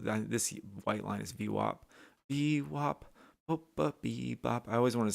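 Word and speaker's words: VWAP: whenever I see v-wop you guys use v-wop or v-wap I know you can't tell me how you pronounce it but I've heard it done both ways I say v-wop like that's the way it should be these buyers coming in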